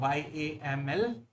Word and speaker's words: YAML: Uh you should have a good understanding of YAML, uh Y A M L. It's pronounced as YAML.